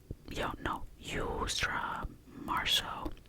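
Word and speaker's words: Yousra Marso: Yusra Marso. They asked two questions. The username is pronounced.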